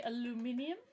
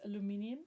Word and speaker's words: aluminium: Okay, you would say aluminum. I met a Canadian person over the weekend and he said it's aluminium.